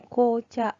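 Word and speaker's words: 紅茶: Kemudian apabila disambungkan dengan kanji beni, ini beni, ko, dibacanya menjadi kocha.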